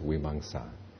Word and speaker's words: Vimamsa: And as I said, there's a dot over the second M, so it's pronounced like an NG.